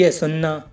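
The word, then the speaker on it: hasten: ऐसी और भी एग्जाम्पल हैं, जैसे लिसन, लिसन की हिंदी है सुनना।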